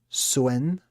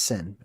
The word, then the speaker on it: Sin: Another way to pronounce sin. Let me just make it so you guys can read along here. Is suen swen swen sin. It's sin.